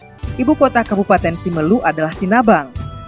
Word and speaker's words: Sinabang: Ibu kota Kabupaten Simelu adalah Sinabang. Kalau diucapkan dengan logat daerah adalah Sinavang, yang berasal dari legenda Navang.